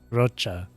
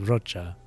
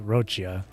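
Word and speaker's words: Roccia: Even the names for Rinascita, like Rocha. I think her name is Rocha, not Rochia. I'm pretty sure the proper pronunciation is Rocha.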